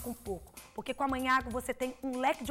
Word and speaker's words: Magnago: na tela para você você escreve com a letra g magnago mas se pronuncia manhago e vai lá descubra